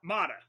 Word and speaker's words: Mata: Is it Mata or Mata? Mata. Mata. Mata, not Mata?